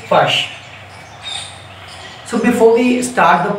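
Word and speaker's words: Fuchs: This is basically a poem written by Joanna Fush, F-U-C-H-S, we pronounce it Fush.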